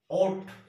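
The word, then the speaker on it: ought: আমি লিখেছি ওট, যে উচ্চারণটা ও ইউ জি এইচ টি।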